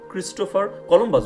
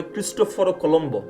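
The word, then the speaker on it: Cristoforo Colombo: কিন্তু উনি তো ইটালিয়ান ইটালিয়ান ভাষায় উনাকে কিন্তু ক্রিস্টোফার কলম্বাস বলে না উনাকে বলে ক্রিস্টোফার ও কলম্ব বা যারা ইটালিয়ান পারে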